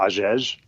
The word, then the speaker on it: Hagege: Uh so my name is Aes and last name it's spelled h a ge.